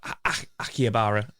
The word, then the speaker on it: Akihabara: And I always butcher the name of the area that I stayed in, but Akihabara, that's the best I can do.